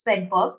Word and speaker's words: Svedberg: So S denotes Swedberg unit, which is spelled as SVEDBERG, Swedberg, named after a scientist, and that denotes the sedimentation coefficient.